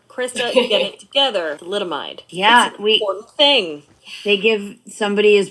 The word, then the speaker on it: thalidomide: about it is oh i know how to pronounce this word the mililide thalidomide thalidomide i'm like i know how to say it's in the billy joel song come on crystal you get it together thalidomide yeah they give somebody as prescribed that in